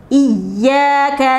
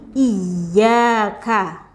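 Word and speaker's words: إِيَّاكَ: Di ayat 5 ini perhatikan di iyyaka, ya. Perhatikan di huruf ya, dia ada tasydidnya di huruf ya. Nah, tasydid ini dibacanya hurufnya ditekan gitu, ya. Iyyaka, iyyaka, tapi tidak dibaca dengan panjang.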